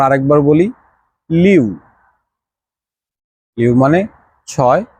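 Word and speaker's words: 七: মানে ছয় বা সিক্স এরপর আসি ছি ওই যে আমরা বাংলায় বলি না ছি এটা কোন কাজ হইলো ভাই ঠিক আছে ঐরকম একটা ধরেন প্রথম শব্দটা হবে ছি ছি মানে হচ্ছে সাত তো এখানে কিন্তু একটা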